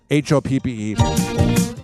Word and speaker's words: Hoppe: Some people spell it Hoppy, but it's Hoppe to save 20%.